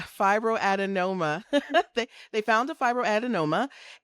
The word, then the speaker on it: Fibroadenoma: Fibroadenoma. Yep. Fibroadinoma.